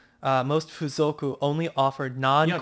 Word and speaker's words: fuzoku: It's got a line K-O-O. Over the U. So it's got the K-O-O. F-U-Z-O-K-U. Fuzoku.